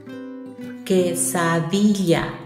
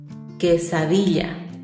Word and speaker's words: quesadilla: When you pronounce it, ignore that U that you see after Q. Quesadilla. Quesadilla.